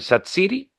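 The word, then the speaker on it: Xhaka: relato de la televisión la pronunciación de gerdan satsi sí pronunciaban en Albania sí es su tierra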